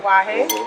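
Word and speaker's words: Tatuaje: Tatujae.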